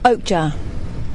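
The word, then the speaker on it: Okja: Do we know how to pronounce it yet? Oakjar.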